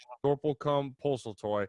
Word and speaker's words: Sorplecum Poseltoy: writer of the new movie, The Next Generation, Sorplecum, Poseltoy.